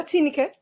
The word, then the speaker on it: Tineke: Did I pronounce that right, Tineke? Yeah, Tineke.